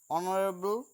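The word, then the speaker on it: honourable: তাহলে কি হলো, an honest man, অ্যান অনারেবল person, এক্ষেত্রেও তাই, অনারেবল, এইসের উচ্চারণ অ আসছে, তাই এখানে আমরা অ্যান বসিয়েছি।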